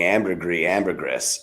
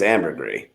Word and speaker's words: ambergris: Wes just kept calling ambergris, and it's ambergris.